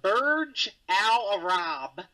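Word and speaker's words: Burj Al Arab: able to correctly solve this puzzle with my pronunciation the Burge Al Arab in Dubai I'll correct I'll give it to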